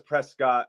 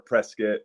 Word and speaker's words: Prescott: well I mean so everyone says Prescott but the locals say more presc one of those stupid